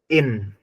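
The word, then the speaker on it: ihn: means होता है इन अब एच अगर यहां पर हम साइलेंट करें तो कैसे साउंड आ रहा है जैसे ऐसे लग रहा है जैसे कि इन बोल रहे हो इन ही है ये इन यानी कि एच को साइलेंट लेते हैं इन है इन कैसे साउंड कर रहा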